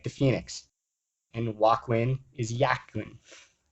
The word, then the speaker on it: Joaquin: And Joaquin is Jachin. They're both spelled with silent J's.